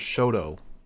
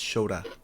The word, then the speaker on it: Shota: So let's get into Jay White versus Shota Umino, which they kept pronouncing his name as Shoto. It's Shota.